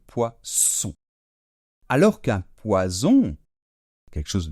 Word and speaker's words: poisson: avec deux ais et si on est entre deux voyelle et c'est le cas ici pour faire le son ce ce ce fort il nous faut faut de S et donc c'est pour ça que un poisson qui nage dans l'eau prend de S et se prononce poisson alors ce s il est davantage fermé on laisse moins passer l'air d'accord et on fait donc poisson alors qu'un poison quelque